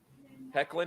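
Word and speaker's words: Hoechlin: tyler ho chin or whatever his name hecklin hecklin is that how you say it there's an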